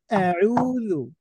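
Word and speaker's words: أعوذ: বলো আমার সাথে সাথে আউজু আউজু গলার মধ্যে নাও জোরে বল সবাইু আইন গলার মধ্যে থেকে উচ্চারণ করতে হয় কেমন এইতো মাশাল্লাহ ভালো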